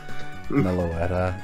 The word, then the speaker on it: Meloetta: normal because you sound normal all right it's pronounced Meloetta yeah yeah I just I don't like I